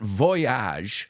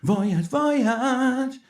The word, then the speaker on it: voyage: saying a trip and it's not Voyage like the song voyage no we say Voyage it rhymes with Bridge language voyage and don't